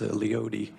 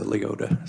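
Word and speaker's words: Leoti: folks from eastern kansas it hurts our western ears to hear the city and wichita county pronounce leote it's it's a leota so thank you for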